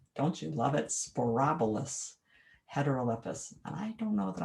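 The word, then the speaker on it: Sporobolus heterolepis: white and antha for flowers prairie drop seed sporobolous heterolepis don't you love it sporobolous heterolypis and i don't know that i looked up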